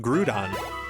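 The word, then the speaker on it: Groudon: It's the way that It's the way that uh it's supposed to be pronounced. Grudon.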